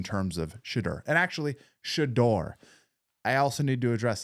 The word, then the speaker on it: Shedeur: I've been saying Shadur wrong. I got a lot of people in the comments telling me I'm saying it wrong. I need to study. It's shador. Shador.